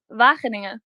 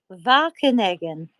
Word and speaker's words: Wageningen: how do you pronounce it? Wageningen. Wageningen.